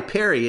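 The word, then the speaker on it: Peri: Perry its parrying yeah PE RI Perry it's spelled it's pronounced just like if it was like Perry melnichuk first name but in fact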